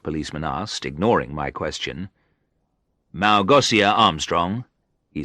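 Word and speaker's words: Małgosia: Armstrong in the first policeman asked ignoring my question Malgosia Armstrong he said pronouncing it with an S sound instead of the sure sound it should have no no she isn't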